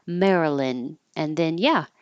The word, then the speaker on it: Maryland: to releasee the D Marilyn and then yeah it will sound like the name Marilyn Marilyn Monroe but it looks like Maryland and it does not sound like it Maryland So speaking of